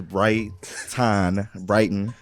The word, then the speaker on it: Brighton: My name, my government name is Brighton. Brighton. Yeah, Brighton. But usually when people say Brighton, they don't even pronounce the T, so they just Brighton, or Still like a unique name.